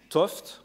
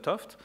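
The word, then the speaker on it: 't Hooft: une interaction fondamentale Gerard toft alors attention jeune c'est ça s'écrit t ouf mais ça se lit oft euh voilà il est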